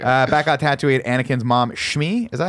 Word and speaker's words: Shmi: Back on Tatooine, Anakin's mom, Shmi, is that how you say her name? Yeah. Shmi.